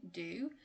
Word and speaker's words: do: in its strong form do then when it's an auxiliary verb it's often pronounced as a weaker sound and it will become a schwa remember the schwa is pronounced so do becomes da do you want to